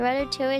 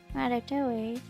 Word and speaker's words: ratatouille: The ratatouille is also excellent the next day. Cover with foil and reheat. Looks good. I'm gonna make this next week. Yeah. Ratatouille.